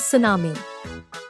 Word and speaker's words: tsunami: Tsunami, it is pronounced as tsunami.